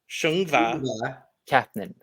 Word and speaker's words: Söngvakeppnin: To tell me how horrible my pronunciation is, but I believe it's Söngvakeppnin. Yeah, Söngvakeppnin. Wait, say that again. Söngvakeppnin.